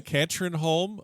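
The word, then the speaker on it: Katrineholm: You win the, and I'm gonna completely screw up the pronunciation, but you're gonna love this anyway because I'm just a silly American. The Katrinholm Open, Yep, and correct.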